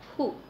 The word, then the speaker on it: who: us the sound O then who it's here who w a silent and we have the pronunciation who it could be a